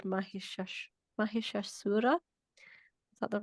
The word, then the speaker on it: Mahishasura: Yeah, so she's known as sort of vanquishing this buffalo demon, apparently called Mahishasura. Is that the right pronunciation, Priyank?